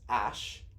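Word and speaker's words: Æ: That's it, but it's pronounced Ash.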